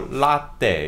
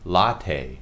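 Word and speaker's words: latte: 이태리어로도 이거 라떼 이렇게 이럴 거 아니에요. 어, 카페 라떼. 근데 영어로 하면 라테. 라테. 라테. 라테. 라테라고 발음해요.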